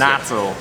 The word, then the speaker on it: natto: Natto.